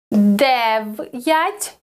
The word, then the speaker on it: дев'ять: Дев'ять. Дев'ять. Again, here we have an apostrophe, so we pronounce дев'ять.